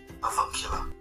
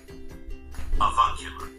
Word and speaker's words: avuncular: So let's see how it is pronounced. Avuncular. Avuncular.